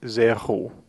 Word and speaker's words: zéro: The number zéro has what we call an aspirated R. And an aspirated R simply means that it's an R in which we feel air passing through the throat.